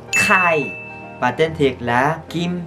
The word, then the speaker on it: Kai: các bạn phải đọc bật hơi lên Kai, và tên thiệt là Kim Jong In.